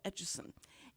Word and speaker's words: Etchison: here today with carl atchison atchison and what he always said told everybody it's like the etch-a-sketch but you put a son on the end of it and that's that's how